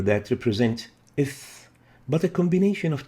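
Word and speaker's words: ث: So the tha is pronounced as ith, as in ethnic and think, ith.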